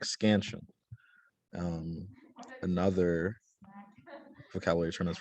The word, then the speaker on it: scansion: know a syllable is has two syllables scan shun um and an unstressed syllable is a part of the word that is a little bit um quieter and the stress syllable is more um prominent like scansion um another vocabulary term